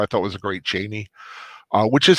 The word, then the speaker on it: Chani: Barbara Tova I thought was a great Cheney, which is how you pronounce it. In the movie they used Chani, and it's not.